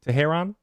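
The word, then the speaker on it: Teherán: units around Milwaukee Brewers Julio tejeron that's it right there something like that because I said Tehran last time he got mad at me and you said it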